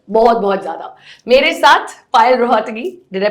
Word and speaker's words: पायल रोहतगी: मेरे साथ पायल रोहतगी. डिड I pronounce it right?